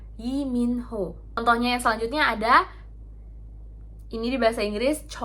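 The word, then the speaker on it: 이민호: Contohnya tuh kayak huruf li. Di bahasa Inggris li, di bahasa Korea itu tulisannya kayak gini doang. Jadi dibacanya i. Bukan Lee Min Ho, tapi Yi Min Ho.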